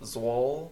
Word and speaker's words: Zwolle: So hey, there's a lot of and then a couple weeks, and I think it's pronounced Zwolle, the Netherlands.